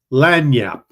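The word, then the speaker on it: lagniappe: of that one I can't remember how to pronounce it that is lanap it is a small gift or something extra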